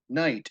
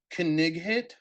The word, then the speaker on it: knight: how letters sound and when you come to things like night as in Knights of the Round Table and you say canig hit because you're sounding it out it just it doesn't